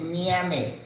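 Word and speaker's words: ñame: Right here we call it name. N A M E. Well, you know in Spanish we have the N. This is the N with the scribble on top.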